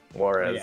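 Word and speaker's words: Juárez: How do you pronounce that? Juarez? Call of Juarez. Juarez, there you go.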